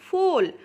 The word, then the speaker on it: foal: এরপরে আছে ফোল, FOAL, ফোল। দেখুন এফ এর পরে যে ও আছে ওটা আমাদের ফার্স্ট ভাওয়েল, আর এটা সাউন্ড হচ্ছে ও, ফো, ও, তাই তো, কিন্তু এর কোনো সাউন্ড